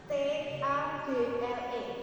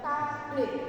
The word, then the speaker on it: table: Tulisannya T A B L E. Bacanya table. Heeh. Jadi bacanya bukan tablet tapi table.